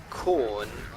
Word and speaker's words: Khorne: Khorne, which is not as in the vegetable. It's spelled Khorne.